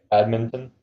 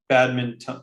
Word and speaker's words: badminton: So I say badminton. I think it's a Canadian thing because I think Americans say badminton. That just sounds wrong now. See? Or not. I shouldn't say Americans. I think some people in the U.S. say badminton, but we say Yeah, badminton.